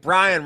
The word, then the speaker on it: Bryon: I don't like Bryon rhyme with Zion.